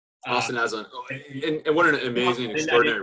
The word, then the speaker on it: Aslan: And I do want to give a shout out, I want to make sure I pronounce the name right. Ashlan. Austin Aslan.